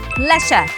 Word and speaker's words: pleasure: เพช เพช แล้ว ออก เสียง เร็ว ๆ ค่ะ pleasure pleasure ก็ คือ ความ รู้ สึก ยิน ดี